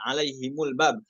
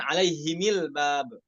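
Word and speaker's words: عَلَيْهِمُ الْبَابَ: alaihim, mereka, atas mereka, alaihimul bab, maka mimnya itu dibaca dhammah, alaihimul bab, bukan alaihimil bab.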